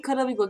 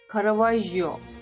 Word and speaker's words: Caravaggio: İlahi Karavigo gerçekten İlahi Karavigo diye okuyorum ama bakmadım nasıl okunduğuna. Böyle mi okunuyor?